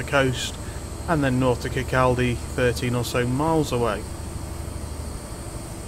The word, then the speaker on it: Kirkcaldy: No, Kirkcaldy. That's what it's called. That's what it's fucking been said as. Kirkcaldy? That's not how it's spelled. It's spelled Kirkcaldy.